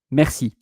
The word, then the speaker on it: merci: are thanking the person, merci. And it's not written like in English mercy, like M-E-R-C-Y. Merci in French, it is M-E-R-C-I.